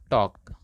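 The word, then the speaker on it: talk: टॉक time ध्यान दीजिएगा अगर कहीं भी के से पहले एल होता है ना तो के से पहले एल साइलेंट होता है तो यहां पर इसको पढ़ेंगे टॉक और टॉक मतलब बात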